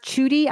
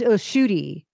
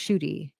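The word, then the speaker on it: Ncuti: It's pronounced Chudy, I'm being told. I apologize if I said it wrong. I don't know. And Cootie is Shooty. Thank you, Nancy. It's pronounced Shooty.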